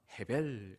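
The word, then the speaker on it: הבל: 아벨 아벨과 같은 단어입니다 여러분이 아벨이란 사람도 히브리어로 발음하면 헤벨 같은 단어입니다 여러분 아벨은 아담의 둘째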